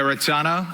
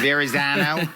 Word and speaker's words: Verrazzano: And Ken, you know you're the only person in the tri-state area that's going to actually pronounce that Correct. Verrazzano, Yes. as opposed to Verrazzano.